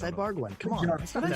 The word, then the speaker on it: Ibarguen: Ed Ibarguen is our guest, and we're trying to pronounce his name correctly, but as you said, it's Ibarguen.